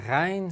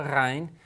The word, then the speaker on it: ghayn: Now, as I said, the ghayn sound has sort of a combination of a G and an R sound together.